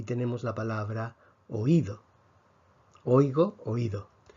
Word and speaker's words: oído: y tenemos la palabra oído oigo oído en oigo vemos que la sílaba la fuerza está en lado en cambio en la